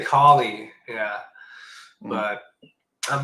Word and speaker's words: Kali: of where that's been yeah so yeah the kie or cie depending on how you pronounce it but kie so what would be the proper pronunciation would it be I say colie I say collie yeah but I'm not going to judge judge